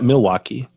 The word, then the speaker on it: Milwaukee: I think he just moved to Milwaukee. Is that how you say it? Yeah, Milwaukee.